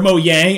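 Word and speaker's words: Mojang: with this where is mojeng or mo yang as is pronounced in swedish the company that makes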